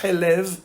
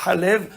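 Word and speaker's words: חלב: Et tout le monde est d'accord que dans ce mot-là, on ne va pas dire Helev, la graisse. Tout le monde est d'accord qu'on va dire Halev, le lait.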